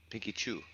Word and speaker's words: Pinky Chew: It's Pinky Chew. Pinky Chew. Okay. Yes, Pinky Chew. Kind of like Pikachu, but Pinky Chew.